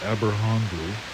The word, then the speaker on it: Aberhonddu: If I'm not mistaken, this word is pronounced Aberhondru.